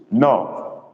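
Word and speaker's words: nnọọ: No. We don't say hi here. We say ndewo or no. No is spelled double N, double O, but dot under the O's.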